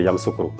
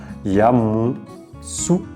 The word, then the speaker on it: Yamoussoukro: Et donc après Daloa, nous allons dans la capitale politique de la Côte d'Ivoire, Yamoussoukro. Voilà comment ça s'écrit, Yamoussoukro. Alors on dit Yamoussoukro, mais c'est Yamoussoukro.